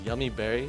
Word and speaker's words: Yumi Berry: really like uh it's yummy Berry that's how we pronounce it but it's spelled Yumi Berry that's awesome so looking